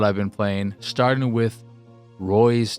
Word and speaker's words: Reus: But I Googled it, and it said Reus.